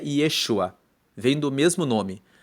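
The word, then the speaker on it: ישוע: O nome de Jesus vem do hebreu Yeshua, que se escreve com Y e com SH, Yeshua.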